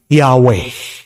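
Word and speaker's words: Yahweh: Meron pong iba sasabihin nila ang pronunciation daw po ng YHW ay Yahwe.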